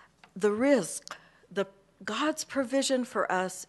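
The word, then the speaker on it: rizq: order to make sure that americans could never pronounce it correctly it's the concept of risk it's r i z q okay and it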